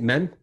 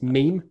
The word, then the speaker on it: meme: loud and men who pronounces it men it's meme a meme you young children and